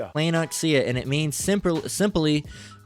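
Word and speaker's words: πλεονεξία: Let's let's hear it pronounced. Strongs. G4124. Playoxia. Playoxia. Playoxia.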